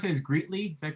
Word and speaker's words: Greetly: And you pronounce it as Greetly, is that correctly?